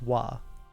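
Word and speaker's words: は: It will be the letter ha, but it will be pronounced wa.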